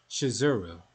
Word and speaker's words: Shizuru: name of the goddess is actually spelled and pronounced shizuru oh man there it is or that misspelling